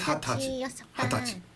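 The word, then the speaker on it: はたち: Is it hatachi? Is it Hitachi? Is it or nijai? It is hatachi.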